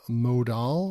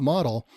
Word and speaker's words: modal: guys basically said um there was a modal or mod whatever you guys want to call that it's not model it's not spelled like that but anyway that's what